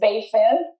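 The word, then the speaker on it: Baie Fine: The next area that is extremely well known, it's probably the best known next to the Benjamins, is Bayfin or Bayfine. Actually, the proper pronunciation is Bayfin.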